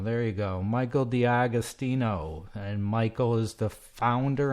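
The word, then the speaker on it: D'Agostino: Pronounce it for me, Michael. I apologize. Dagostino. Dagostino. There you go. Michael Dagostino.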